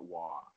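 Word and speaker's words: Roy: His last name is spelled R-O-Y. Yeah. I don't get it. How's it Waugh? Well, that's a hockey name for you.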